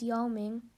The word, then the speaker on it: Yao Ming: not know the pronunciation then if you look at the pinyin and the tone marks you can figure out that the pronunciation is Yao Ming so within pinyin the